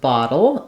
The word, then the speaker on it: bottle: for pronunciation is that the uh letters L at the end of bottle are uh a syllabic l sound so even though the E is there it's silent we don't really have